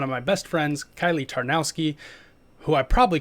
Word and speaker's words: Tarnowski: how to say it right in the intro tarnowski yeah okay i'll have to listen to this